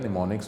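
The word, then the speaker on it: mnemonics: of numbers known ए इसको निमोनिक्स इसको pronounce किया जाता है निमोनिक्स में जैसे देख ले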